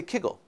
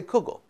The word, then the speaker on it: kugel: is different very different the classic example is Google versus Kegel in Lithuanian they say Kegel in Poland they say kugel there are other places